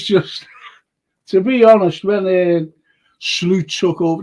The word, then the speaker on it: Slot: to be honest when slute took over that's how you pronounce his name by the way slute slute the point is I thought